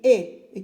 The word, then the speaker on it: est: Après, je viens et je regarde ce petit mot qui se lit et qui s'écrit E-S-T. Et j'écris ici E-S-T et je lis et. E-S-T se lit et.